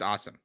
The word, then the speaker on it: Asim: be going up against Asim Richards if Tyron Smith can't play his name is pronounced awesome just oh awesome sorry I didn't know